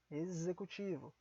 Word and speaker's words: executivo: uma letra S aqui executivo temos as letras ex e o vogal Então coloque aqui a letra z executivo mexicano é uma daquelas